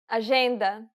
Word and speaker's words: agenda: The letters J and G can sometimes be pronounced like. Je, It sounds like the S in pleasure.